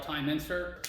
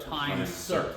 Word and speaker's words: Time-Sert: Yeah, time Time insert, or is it Time-Sert? Time-Sert. Time-Sert. Even I say it wrong. So it's Time-Sert is the company, not Big Insert.